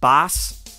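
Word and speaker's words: baas: it world's greatest boss boss is originally a dutch word roughly pronounced boss b-a-a-s something like that and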